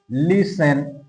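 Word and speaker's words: listen: ধর আমরা লিখতে পারি লিসেন লিসেন দেখ লিসেন এই লিসেন এর মধ্যে কিন্তু এইটি এর উচ্চারণ কিন্তু হচ্ছে না এর উচ্চারণ হচ্ছে না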